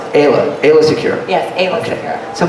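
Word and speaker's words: Aayla Secura: But talking about this now, and again, you pronounce Ayla Secure.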